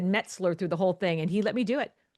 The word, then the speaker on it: Metzler: It's Metzler and not Mesler, not Metzler, like she did.